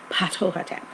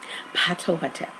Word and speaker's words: Ptahhotep: The first vizier that we have documented proof of, his name is pronounced Ptahhotep. Ptahhotep.